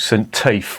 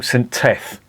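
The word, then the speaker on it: St Teath: where we stayed called Saint Tafe well it's actually called centeth but I called it scent Tafe because it's spelled t-e-a-t I thought Saint Tafe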